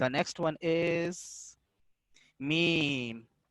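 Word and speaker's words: ميم: The next one is meme. Is अ शफविया letter pronounced from the dry part of both lips.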